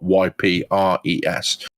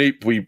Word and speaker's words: Ypres: We went to lay a wreath at the Menin Gate in Ypres, which is in Belgium, and the Ypres salient, Ypres is spelled Y-P-R-E-S.